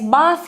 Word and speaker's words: bath: show you later okay now in this case bath here is also a verb okay if it's a verb it just simply pronounced bath it's like a now you know